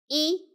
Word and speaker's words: 一: E.